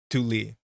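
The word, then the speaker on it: Thule: Uh there's a pronunciation guide on Wikipedia, let alone that there is one on um but it's the end is not lei, it's Lee. Tuli like that.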